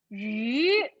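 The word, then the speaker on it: 鱼: So basically, the Chinese pronunciation of fish is yu. You can probably say it with me. Yu. So yu also means surplus. It's a different character though. Look at this. So yu here means fish, but yu here, the surplus, yu here is a different character. But you know, they have exactly the same pronunciation.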